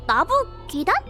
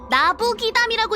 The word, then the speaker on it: 나부기담: 네빈이 나부기단? 이게 뭐하는 사이트야? 이거 어떻게 읽어? 나부기담이라고 읽는 거야, 이 바보야.